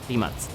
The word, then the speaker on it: Rimac: We don't stop, we just keep going, so say hello to our number 5 pick, the Rimac Concept 2 on 5th. And yes, this is how you pronounce it, Rimac.